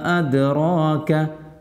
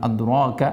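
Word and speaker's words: أدراك: വമാ അദ്റാക, ദാലിന് സുക്കൂനാണ്, അതിനാണ് കുത്തുബ് ജദ്ദിൻ്റെ അക്ഷരമാണ്. ദ് ഹർക്കത്ത് ഉച്ചരിക്കണ പോലെ തന്നെ ദ് എന്ന് ഉച്ചരിക്കണം. അദ് റോക്ക എന്ന് ഉച്ചരിക്കരുത്, അദ് റോക്ക.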